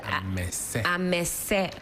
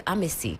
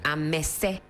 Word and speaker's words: Amese: Amese. Thank you. I always call you Amesi. Yeah. Amese. Yeah. That's the pronunciation.